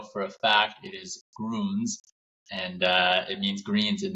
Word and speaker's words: Grüns: the day cuz everyone I've here I've heard pronounce it over here is always like Gruns, Gruns, you know, their growth is crazy, but now we know for a fact it is Gruns and it means greens in the in the German language.